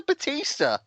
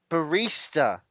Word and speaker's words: barista: for about two years until somebody said what's a Batista and when it's the person behind the coffee thing they went Barista I was like is that how you pronounce it so for two years